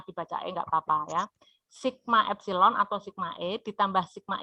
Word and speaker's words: epsilon: aljabar JBL nah ini ada yang tahu kalau membacanya apa ini Ini dibaca epsilon ya epsilon Nah jumlah GGL atau epsilon dan